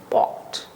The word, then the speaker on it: walked: So k is a voiceless sound. So it is pronounced as t, walked.